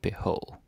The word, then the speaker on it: BH: But we just say beho, because it's faster.